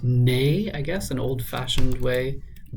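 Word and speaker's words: né: of 39 across nays the French word nay is pronounced the same as the English word nay this is also now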